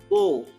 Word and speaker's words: beau: Then BEAU is bow, right?